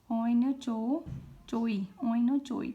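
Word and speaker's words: oinochoe: Next है द ओयचोलो, this one इज, ठीक है, ओइनोचोई, ठीक है। इसको किसी और तरह से भी प्रोनाउंस, 2-3 तरीक़ों से भी प्रोनाउंस किया जा सकता है।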